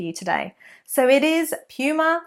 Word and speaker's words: Puma: another popular sports brand Puma Puma now the pronunciation is Puma not Puma although Americans often say Puma which is actually how they say the name of the animal so technically not incorrect